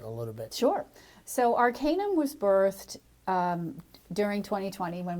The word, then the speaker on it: Arcanum: So Arcanum was birthed during 2020 when we I were. like the name, Arcanum. Thank you. Did I pronounce it correctly? Arcanum? Yes, Okay. yes.